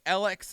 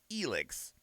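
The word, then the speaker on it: Elex: initial like reveal for this and i was pronouncing it alex and i have been corrected because apparently the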